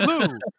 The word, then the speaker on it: lieu: It's pronounced Lou. In lieu of things, right?